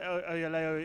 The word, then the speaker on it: Oyelowo: David Oyelowo is fantastic.